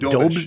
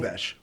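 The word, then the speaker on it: Dobeš: So right now, Montreal's goalie, Dubas, how do you spell it? Dobish. Dobish? Okay.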